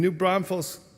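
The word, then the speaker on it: New Braunfels: aday is the minister at our congregation in new Bron Falls uh Texas did I pronounce that right yes in new Bron Falls Texas um and she has lit our calendar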